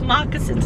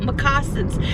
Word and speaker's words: moccasins: was like it's wait how do you say moccasins it's moccasins not massin there was another word